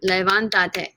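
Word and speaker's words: levántate: syllable right from levanta levanta three syllables to levantate four syllables if i added an extra syllable an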